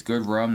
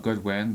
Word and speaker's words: Goodrum: It's Goodrum, not Goodwin, but deal with it.